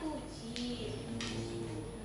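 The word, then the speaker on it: 九時: Sedangkan jam 9 kalau biasanya itu apa? Kyu ya. Kyu kalau di jam itu dibacanya kuji.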